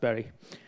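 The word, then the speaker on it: Bury: is kind of medium this one berry it's pronounced berry is an absolute train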